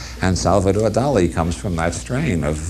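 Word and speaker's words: Dalí: a couple hundred years started spelling it d a l i instead of d a l y and pronouncing in Spanish fashion do and Salvador do comes from that strain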